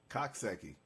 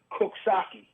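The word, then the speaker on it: Coxsackie: What does that what how you pronounce that? Coxaki, right? They call it Kaki.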